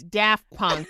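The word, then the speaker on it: Daft Punk: Like by the way it's it's daff punk. Thank you, Megan. We stopped recording and she was like, "D, you're mispronouncing something again."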